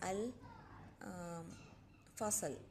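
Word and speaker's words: الفصل: But the next letter is al fasal. Again the alif lam is not joining with the fa.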